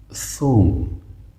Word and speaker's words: ثوم: مثلا ما و شما میگیم ثوم، ثا. ببینید چه قسم. ثا، ذل. اینی را شکل تلفظ درست شه یاد بگیریم. ثوم، ثوم، ثوم.